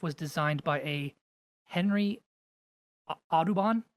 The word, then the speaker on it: Audubon: designed by a Henry adubon I hope I'm pronouncing that right it's AUD u n adubon I don't know so